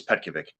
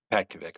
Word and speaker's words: Petkovic: It makes it so much easier so you don't have to pronounce the last name. But it's Pet- it's Petkovic. Petkovic.